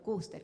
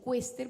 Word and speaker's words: Kuester: Fue surgiendo el doctor Kuster, que algunos le dicen Quester porque se escribe Quester. Y no sé cómo es que se pronuncia en alemán, pero algo así como Kuster, algo así medio raro.